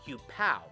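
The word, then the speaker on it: Huepow: pronounced he was spelled Hugh pow originally his name was supposed to be spelt the same way that it sounded just Hugh pet Hugh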